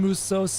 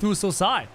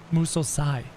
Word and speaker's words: Musosai: The A in Musose is the same as in Samurai. It's Musosai. Thank you, Rudy Vido, in the Discord server. Musosai.